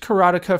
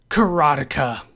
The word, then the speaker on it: Karateka: Karateka. That's how I'm going to say it. It is the American pronunciation as far as I can tell.